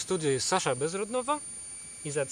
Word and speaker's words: Sasha Bezrodnova: Dzisiaj moim gościem w studiu jest Sasha Bezrodnova.